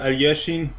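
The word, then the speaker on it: Alekhine: 1937 a Russian chess player Alexander no Alexander alyashin that's how you pronounce him actually recaptures his final word title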